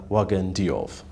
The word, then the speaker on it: Wagane Diouf: the set is uh the chief executive officer wagan diov nice to see you thank you thank you